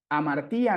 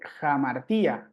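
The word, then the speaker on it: ἁμαρτία: Entonces aquí ya no pronunciaríamos amartía nada más la alfa, sino que hay que agregarle este sonido que nos dicen aquí. Entonces se lee jamartía, jamartía, jamartía, ¿no?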